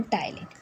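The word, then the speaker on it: ptyalin: P silent है इसलिए टी वाई एल आई एन टाइलीन।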